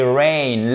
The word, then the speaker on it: rain: Et faites attention, c'est may et c'est rain. Là aussi, on a deux diphtongues.